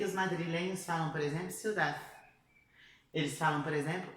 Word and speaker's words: ciudad: Ciudad, viu? Ciudad. Então, a língua chega a bater atrás dos dentes, mas a gente não pronuncia.